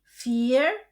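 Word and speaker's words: vier: Kombinasi huruf I e dibaca I panjang dan huruf U um laut dibaca U. Jadi fear fth sex sib akh noin.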